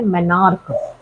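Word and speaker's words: menarche: तो सबसे पहली वाली मेंुअल साइकिल जब स्टार्ट होती है इस ऐज में 10 से 12 साल में तो उसे हम प्रोनाउंस करते हैं मैनार्क।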